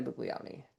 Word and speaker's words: Buglioni: Bug Bugleion. Bugleion. Bugleion. And if we're saying it wrong, somebody please tell us let us know. Uh, but we listened to the way they announced at the draft and they said Buglioni.